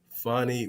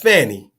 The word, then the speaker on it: Fani: Fani Willis, not Fanny, as some folks like to mispronounce her name.